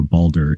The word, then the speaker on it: Baldur: one the God of Light Purity and Justice balder also known as balder or balder is a significant figure in Norse mythology revered